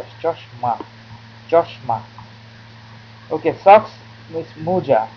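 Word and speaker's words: মোজা: Okay, socks is moja. It's moja. Often people call moja, so it's between moja, mo, or mu. Moja. Okay, this is how you pronounce moja.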